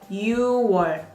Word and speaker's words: 6월: New as well is an exception just like October. You don't pronounce the last consonant with months. Technically 6 is 6, but you're gonna say 6월.